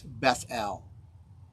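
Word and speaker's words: Beth El: he called the place beth al is actually how you say it in hebrew bait means house el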